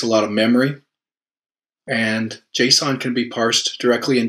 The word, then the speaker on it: JSON: It's pronounced JSON, and it's a library that, ultimately, it's a very simple format for displaying what can be pretty complex data.